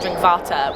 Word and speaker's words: Drinkwater: i dutch no but my last name is drink water but it's pronounced drink vata which is dutch and i'm tall so